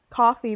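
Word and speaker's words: CFVY: service went with team how do you say that team cfvw coffee that's how you say it yeah okay team coffee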